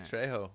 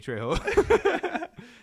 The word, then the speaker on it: Trejo: I'll fucking call him Danny Trejo. It would be Trejo. Trejo, because the J is an H in Spanish. The J is silent. It's an H.